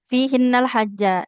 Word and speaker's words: فيهن الحج: Fihinnal hajja. Jimnya fathah. Di depannya nggak ada alif. Berarti nggak boleh panjang ya.